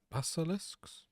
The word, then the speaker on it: basilisks: Basilisks.